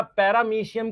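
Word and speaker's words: Paramoecium: बेटा पैरामीशियम की स्पेलिंग पैरामोएशियम लिखते हैं। हम एम ओ ई लिखते हैं।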